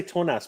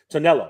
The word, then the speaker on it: Tonello: I want to say Tonas, but Tonello.